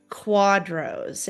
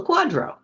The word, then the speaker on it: QDRO: I wanted to talk to you today about quadros, and I'm going to let you explain how that is spelled and what it is.